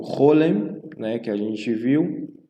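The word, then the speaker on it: כל: O Chol, no caso, ela é pronunciada dessa forma, né? Então você não pronuncia como Hal, tá? E nem Kal. Então ela significa todo ou toda, né? Chol, por exemplo. Kol hakavod, né? Então, tanto pode ser Kol, pode ser Chol, tá?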